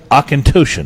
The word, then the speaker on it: Auchentoshan: some single malt Scotch, which I have worked hard to be able to pronounce properly, and I believe it is Auchentoshan. Is the way you say it.